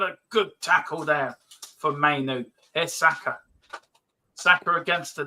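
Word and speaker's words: Mainoo: Stop calling him manure, Dermo. I told you. I called him Manu. Oh yeah, I keep getting manure. His name wrong. What actually is his name? Kobe Mainu. Mainu. Yeah. That's what I said, Mainu.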